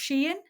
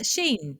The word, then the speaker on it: Shein: It's they're getting away with a big company called, have you heard of, I think it's pronounced Shein.